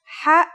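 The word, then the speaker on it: ح: doesn't sound like it ha is the first letter of the second group meaning that it has no counterpart in english it sounds like the sound you make when trying to cool your mouth and throat after eating something very spicy the closest english counterpart to the sound is h the only difference is that it comes from a point deeper down in your throat just like this try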